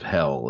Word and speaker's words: Hel: later the Inferno of hell as well. The Anglo-Saxon word for Sheol is Hel. It's pronounced hell.